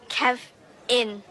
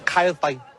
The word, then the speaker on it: Kevin: How do you pronounce it? Say it again. Kevin. Ke Kevin Kine fine like Kev in I think I got it. Kine Kev in We will get it.